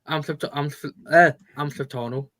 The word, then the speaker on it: Amalfitano: Amalfitano.